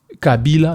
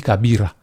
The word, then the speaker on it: Kabila: Il ne savait même pas prononcer son propre nom Kabila mais il dit Kabira.